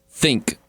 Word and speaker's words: Thync: There's a new device called Think, except for it's spelled THYNC.